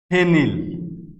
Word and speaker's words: ফেনিল: যেমন ধরো ফেনিল, ফেনিল। তো ফেনিল শব্দটা কি? ফেনিল শব্দটিতে দুইটি অক্ষর, ফে একটা অক্ষর, নীল একটা অক্ষর, ফেনিল।